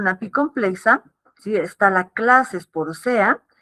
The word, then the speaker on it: Sporozoea: El filo es apicomplexa, la clase es Sporozoea, Sporosea, así se pronuncia, y la subclase Coccidia, ¿sí?